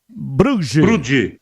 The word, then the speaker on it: Brugge: O Brugge, qual é a pronúncia desse time aqui, hein? Brugge.